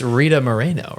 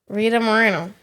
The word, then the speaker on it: Rita Moreno: little nervous that I have it wrong it's Rita Moreno right Rita Moreno yeah hold on she's an icon she deserves